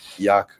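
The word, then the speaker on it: Yacc: is why it's named Yak yet another compiler compiler see the compiler tool is bison Sim to his bison name the on the pronunciation of yak like Yak yeah I get that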